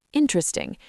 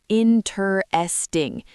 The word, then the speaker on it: interesting: Fourth, and the word interesting, not interesting. Interesting, 3 syllables.